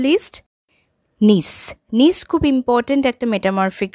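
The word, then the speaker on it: gneiss: হয়ে থাকে এন্ড দ্যা last of দা list নিস নিস খুব ইম্পর্টেন্ট একটা মেটামরফিক রক এর উচ্চারণ কিন্তু হয় না নিস উচ্চারণ হয় কম্পোজিশনটা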